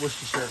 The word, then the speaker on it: Worcestershire: I watched a video on how to pronounce it. It's Worcestershire.